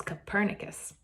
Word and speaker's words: Copernicus: figurin his name was Copernicus I can even spell it for you if you're a mind Chad made me learn how to say it and spell it - sounds like a burner Jethro nodded I allow